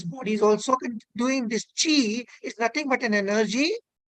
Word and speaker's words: qi: It is Qi, pronounced as Qi.